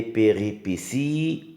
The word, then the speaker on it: péripéties: Les péripéties. Regardez bien, là aussi il y a un T qui se prononce S.